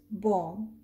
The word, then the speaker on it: bomb: And this is bomb. Did you hear the b sound at the end? No, because whenever b is followed by m, we do not pronounce b.